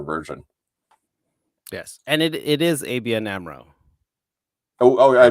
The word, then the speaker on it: ABN AMRO: Yes, and it is ABN AMRO. Oh, I pronounced it right the first time.